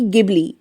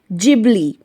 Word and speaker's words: Ghibli: कोई इसे जिबली कह रहा है तो कोई गिबली। इसका सही प्रोनाउंसिएशन है जिबली।